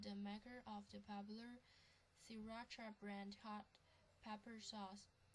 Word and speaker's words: Sriracha: Farm Foods to immediately halt production of Sriracha, pronounced Sriracha, as its chili factory while review of the sauce continues.